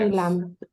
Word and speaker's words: island: This one, we don't pronounce the letter S. Island.